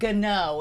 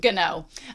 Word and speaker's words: Gno: So they were like, minor correction, Gno is pronounced with a hard G. Gno.